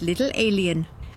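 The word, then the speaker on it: Little A'Le'Inn: The Little L Inn, pronounced Little Alien, advertises itself with the slogan, "Earthlings, welcome."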